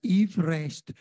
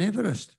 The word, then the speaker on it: Everest: this hill was named his name was actually pronounced evest rather than Everest we've been calling this